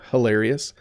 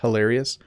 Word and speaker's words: hilarious: over pronouncing it now hilarious hilarious the H is in the back of my mouth but when something is